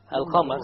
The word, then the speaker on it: القمر: القمر. So again, we have the moon, the lunar letter, which is the qaf over here. So we pronounce the lam.